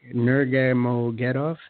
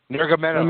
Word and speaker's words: Nurmagomedov: Those strengths are just play into the hands of somebody like a Khabib Nurmagomedov. No, I butchered that one. But Nurmagomedov.